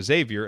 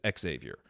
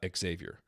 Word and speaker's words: Xavier: announcer in the world pronounced it like the university in cincinnati so xavier until he was corrected by the family it is xavier uh yes that is